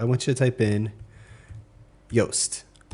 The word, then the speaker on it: Yoast: Now I want you to type in Yoast. Rhymes with toast.